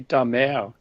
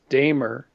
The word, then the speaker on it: Damer: depict my ancestors, because the pronunciation of my last name is actually Damer, of the sea. And it was the Vikings who invaded northern France and then moved into England. So the Anglified version is Damer, but the Frankish version is Damer.